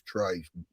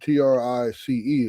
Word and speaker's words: Trice: I understand why everybody call him Trice and why he said cuz it's Montrice, but when you take out the Mont out, it's Trice.